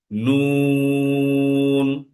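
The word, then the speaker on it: نون: পরবর্তী হারফ হচ্ছে নুন উচ্চারণটা হবে নুন নুন এবং এই নুনের উচ্চারণটাও ঠিক আমাদের হচ্ছে নাকে বাঁচবে নুন নুন না নিন নুন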